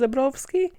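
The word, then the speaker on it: Zebrowski: podcast on the left last name is actually polish pretty sure i could i could better fight her it's supposed to be pronounced zebrovsky yeah changes your whole perception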